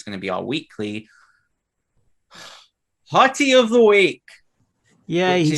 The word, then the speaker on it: HOTI: to be our weekly hottie of the week yeah he said it right oh i really want to say hoty so bad but no it's 40 of the weeks apparently um but first of all